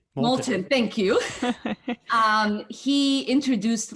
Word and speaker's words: Moulton: massachusetts uh seth i'm gonna say his last name wrong um moulton molten thank you um he introduced legislation uh to